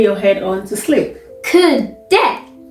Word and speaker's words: kudde: Kudde. Kuda. No. That is not what I said.